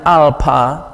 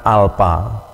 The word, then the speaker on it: alpha: baca pada nama huruf Jadi kalau nama hurufnya Alpha ya kita katakan alpha atau alpha atau alpa Kalau Anda misalnya lebih senang ke inggris-ingrisan gitu ya ke barat Baratan ya pakai pengucapan yang kedua ahalfah gitu kemudian ini beta jadi